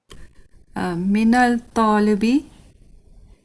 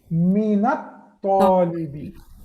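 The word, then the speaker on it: مِنَ الطَّالِبِ: Minal talibi. Minat talibi. Yeah. Minat talibi, sister. Why? Because this is from Huruf Shamsiya. This is from Huruf Shamsiya. Okay. So you will not pronounce lam here.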